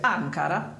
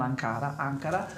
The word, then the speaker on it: Ankara: Chi vincerà contro la squadra di, stavolta mi sono documentata, si dice Ankara, con l'accento sulla prima A, non Ankara, di sempre Ngapet e Nimir.